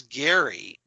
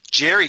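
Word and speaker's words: Gerry: stacy jerry conway but referred to him as gary and i take full responsibility for i apologize i i you know i i know a gary personally that's that it's spelled g-e-r-r-y but he pronounces it gary so that just kind of stuck in my head so i apologize for that jerry conway um the co-creators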